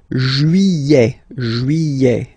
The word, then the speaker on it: juillet: Juillet. Don't pronounce this final T, E-T here at the end.